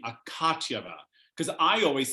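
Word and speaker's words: Akatyeva: I'm sorry I'm just I didn't realize I was pronouncing it wrong until I heard this broadcast where they kept saying akatyava because I always said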